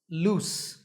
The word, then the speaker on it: loose: on your shirt here the last sound is loose one of my teeth is loose I think it's going to fall off to recap the pronunciation lose has a zip sound at the end and loose has a